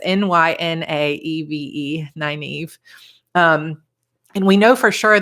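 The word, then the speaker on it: Nynaeve: book I could buy so Evie's name is 9 Eve so it's NY nae ve 9 Eve and we know for sure that's how he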